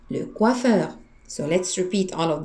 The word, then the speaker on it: coiffeur: And remember here how we pronounce O and E. We pronounce it wa. Le coiffeur.